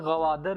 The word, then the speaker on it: Gwadar: Pakistani rupees, Oman sold "Ghuwadar" to Pakistan Omanis called it Ghuwadar They still call it Ghuwadar They cannot pronounce the hard G sound They pronounce girl as